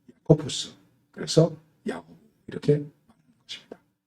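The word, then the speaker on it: Ἰάκωβος: 그럼 이것이 헬라어로 발음하면은 야코푸스.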